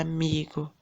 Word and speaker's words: amigo: Qual que é a sílaba tônica na palavra amigo? Não é o mi, que a gente pronuncia com mais força? Amigo. Então, essa palavra é uma palavra paroxítona, tá bom?